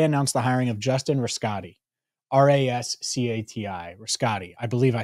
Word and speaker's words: Rascati: Well, they announced the hiring of Justin Rascati, R-A-S-C-A-T-I, Rascati.